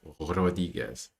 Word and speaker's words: Rodriguez: I need to say it like the proper Spanish accent. Rodriguez. Aaron Curry.